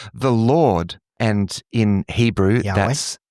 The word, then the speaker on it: Yahweh: So Yahweh is generally the way that we pronounce this is pronounced.